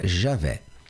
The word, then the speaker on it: Javé: Ou seja, Iavé na língua hebraica, mas na nossa pronúncia aqui portuguesa fica Javé.